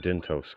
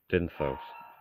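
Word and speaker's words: Dyntos: The moment fucking King Dintos got involved. Dinthos. I fucking said his name wrong twice, didn't I?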